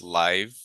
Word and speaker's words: livelihood: So don't forget to pronounce the e. So it's livelyhood.